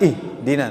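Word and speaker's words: اهْدِنَا: Kalau kita nggak mengerti sifat huruf H, kita menganggapnya huruf H ini harus di apa ya, dihentak lah gitu. Padahal dia melafazkan huruf H ini dengan rikhwah. Rikhwah itu mengalirkan angin, angin ya.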